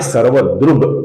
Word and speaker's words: सर्वदृक्: सर्वदृक् का बनता है सर्वदृग ग, सर्वदृग।